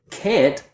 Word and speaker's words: can't: Can't only has one form. We pronounce the whole word. It's not a reduction, but it is short and fast, like this, can't.